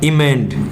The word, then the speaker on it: emend: अब हमारा वर्ड है दूसरा इमेंड। ये तो था एमेंड, ये है EMEND। ठीक है, सिर्फ ए की जगह ई है, इसका उच्चारण होगा इमेंड।